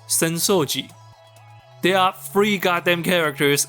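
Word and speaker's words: 浅草寺: Asakusa... Dera. Except, it's pronounced "Senso-ji".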